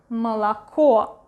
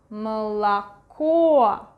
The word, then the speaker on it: молоко: pronounce it as A, молоко. But this one is one more syllable like before the stressed one, so it's not really pronounced as A, but something in between U and E, молоко, молоко.